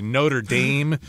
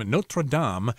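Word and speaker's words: Notre-Dame: I think sometimes you might hear like Americans say Notre Dame or something like that, but ooh, you don't do that if you're trying to say a French name. Notradam.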